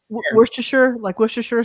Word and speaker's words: Worcestershire: How do you say the end of that word? Sheer. Sheer. Okay, sheer. Because sheer. Everybody Like here. Worcestershire sauce.